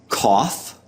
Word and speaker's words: cough: at some of those o u g h letter combinations that have the F sound as in off okay so you're going